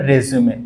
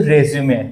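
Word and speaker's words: resume: आप लोगों का जो रेज्यूमे है, कहीं से रेज्यूम नाम से भी जो है प्रोनाउंस करते हैं, उच्चारण करते हैं। बाकी देखिए यहाँ पे मैं बताना चाहूंगा बिल्कुल शुद्ध उच्चारण जो है इसका रेज्यूमे ही होता है।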